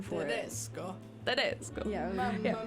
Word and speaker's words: Tedesco: I had to look up a pronunciation for it. Tedesco.